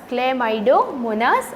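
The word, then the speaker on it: Chlamydomonas: इसको क्या प्रोनाउंस करेंगे, क्लेमाइडोमोनास और क्लोरेला।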